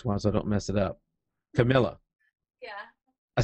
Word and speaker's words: Camilla: a while so I don't mess it up Camila yeah I said it right yeah you got